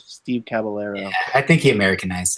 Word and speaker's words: Caballero: You see, if you're in Argentina, that would be pronounced caballero. Ooh. But I believe that Steve Caballero, I believe he called himself Steve Caballero.